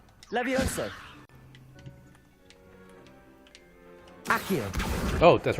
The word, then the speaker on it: Accio: Accio, that's how it's pronounced.